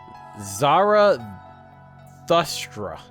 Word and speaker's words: Zarathustra: This time to take center stage, Zarathustra. Zarathustra. That's like... I have to try to pronounce that, because I'm not used...